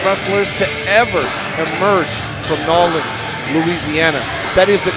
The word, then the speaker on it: New Orleans: most talked about wrestlers to ever emerge from new orleans louisiana that is the correct pronunciation by the way john i know you